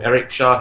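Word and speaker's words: Chahi: that guy in general apparently pronounced his name Eric Shah he said yeah sorry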